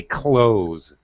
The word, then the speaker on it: clothes: help you out actually i think probably ninety eight percent of native speakers and by that i mean Brits Australians Americans say close with a Z sound like zoo zebra just like close the door mm it's easier it